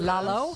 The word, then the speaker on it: Lalo: You can call me Lalo Alcaraz, Lalo? but that's all right. Alcaraz. Is it Lalo or Lalo? It's Lalo. Oh, it's Lalo.